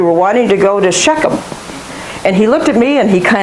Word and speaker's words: Shechem: place called, we call it, how do you pronounce that? Somebody say this word for me. Shechem.